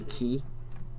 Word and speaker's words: quay: out a plan C is a new key not only Quay how I used to pronounce it go I have that